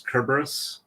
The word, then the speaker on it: Cerberus: marar his name is Cerberus because as I understand it in Greek um that's from with since there's no Soft C Sound it's all hard k type sounds with the c uh it's kerberus uh which is essentially